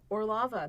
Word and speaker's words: Orlova: Orlova, that is officially how the Russians pronounce it.